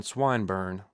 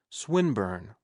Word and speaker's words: Swinburne: swatted meant this man swineburn he began attempting to put his plan into execution and pronouncing the i long who swineburn he repeated with the same mispronunciation the poet swinburne she corrected yes that's